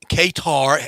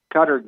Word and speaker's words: Qatar: All right, come World Cup time in Qatar. How do you pronounce it? I hear so many pronunciations of Qatar. Is it Qatar or is it Qatar? I Or believe Qatar. it's actually like gutter.